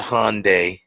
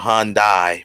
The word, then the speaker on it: Hyundai: one day it's not hyundai or han dai some people say han dai it's hyundai like sunday hyundai that's what it is some people say honda